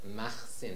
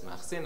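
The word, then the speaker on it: Makhsin: the community of, and he calls it Machsin. Does everyone see that? M-A-K-H-S-I-N. That's how he read that word, which in Hebrew is spelled Mem Aleph Kaf Samach Yud Nun.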